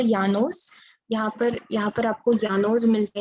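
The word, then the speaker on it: llanos: यानोस, LLALNOS, okay, यानोस, double L को य करके प्रोनाउंस करते हैं स्पेनिश में, don't ask मी व्हाई, सो यानोस, Campos and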